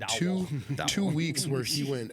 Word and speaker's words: Dowdle: That's the Dowdle, last name, Dowdle?